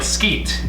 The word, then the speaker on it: Skeet: my last name is skeet and so I said uh it sounds like skeet and she's like it's